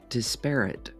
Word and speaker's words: disparate: years today's word is disparate it could also be pronounced disparate disparate or disparate either way it's an adjective